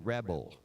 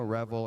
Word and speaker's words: Revel: And now I know Revel and Rebel sound totally alike. And I try to pronounce as well as I can, all the way to the point of actually telling them sometimes it's Revel, R-E-V-E-L.